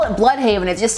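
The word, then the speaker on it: Blüdhaven: it that it's pronounced Bloodhaven, which a lot of people suspect because there is the symbol over the U, but also a lot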